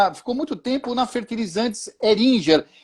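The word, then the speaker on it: Heringer: Depois ele fez uma carreira muito grande, ficou muito tempo na Fertilizantes Eringer. É essa a pronúncia correta, né? Eringer.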